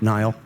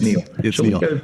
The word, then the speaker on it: Niall: Nile. Shall we? Uh, it's pronounced Neil.